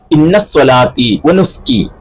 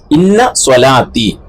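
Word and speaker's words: إن صلاتي: ആലമീൻ എന്ന് പറയുന്ന സ്ഥലത്ത് ചില ആളുകൾ പറയുന്ന ഇന്നവലാത്തി സ്വാദിന് ശദ്് കൊടുത്തിട്ടാണ് ഇന്നലാി അങ്ങനെയാണ് പറയുന്നത് അത് തെറ്റാണ് എന്താ പറയേണ്ടത് ഇന്ന സ്വലാത്തി ആ സ്വാദിനിക്ക് ശ്രദ്ധില്ല ഇന്നക്കാണ് ശദ്ഉള്ളത് ഇന്ന സ്വലാത്തി അതുപോലെതന്നെ വനുസു സീനിന് സുക്കൂനല്ല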